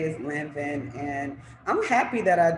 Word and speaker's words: Lanvin: Um, if y'all watched my house, y'all know that I was considering going to Lanvin, right? Mhm. That's how you say it. Yeah. I was considering going to Lanvin.